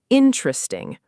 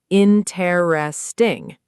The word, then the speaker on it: interesting: Natively, it's often compressed to just three syllables, interesting, rather than four full syllables, interesting.